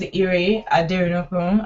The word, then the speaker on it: Ire Aderinokun: okay so as they've said my name is Irie I dare no room I know it's quite difficult to pronounce but I'm gonna be talking about how